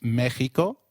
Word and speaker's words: México: Did you notice that the X in Mexicano is pronounced as H? While X is usually pronounced as X inflexible, it is pronounced as a throaty H in the words Mexico, Mexicano, and Oaxaca, which is a state in Mexico.